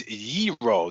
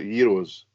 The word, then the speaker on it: gyro: episode Jay West put its gyro the G is silent but